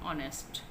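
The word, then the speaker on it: honest: यहाँ पे एज क्या है, साइलेंट है, तो हमने साउंड देखनी है कि हम वर्ड को जैसे बोल रहे हैं उसकी साउंड स्टार्ट में क्या है, ऑनेस्ट, ठीक है, आ की साउंड आ रही है।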